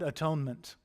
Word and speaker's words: atonement: And there you have the melody of the word atonement, the music behind the word, because we pronounce it wrong, right? It should be at-one-ment.